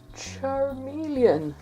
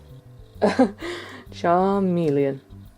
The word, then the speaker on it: Charmeleon: Charmeleon. Spell it romanized. C H A R M and then looks like melon but it's not. Charmeleon.